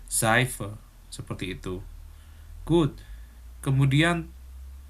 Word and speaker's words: Seife: Kemudian S Jerman itu kemarin pelafalannya dalam kalimat itu kayak huruf Z dalam bahasa Indonesia ya. Misalkan apa? Kata 7 dalam bahasa Jermannya sieben. Kemudian sabun dalam bahasa Jermannya Seife.